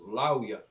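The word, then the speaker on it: לוי: in the name Levi in Hebrew it's pronounced Lauya. So it almost sounds like there's like a vowel in there because of the connection between the ah and the wa.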